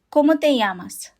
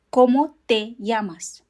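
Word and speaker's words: cómo te llamas: The O in Spanish always makes the sound O. Not O. Always it's O. And the accent over the first O indicates where the stress in the word is.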